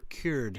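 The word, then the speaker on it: Kür: yeah yeah uh the the most European called it the Kur because it's the same name in the Central Asia but in aeran we call it the K the ker ker River yeah ker River uh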